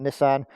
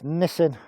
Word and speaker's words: Nissin: you got a Nissen somebody told me off the other day for pronouncing it Nissan that's the car manufacturers is it was so it's nissing caliper on the rear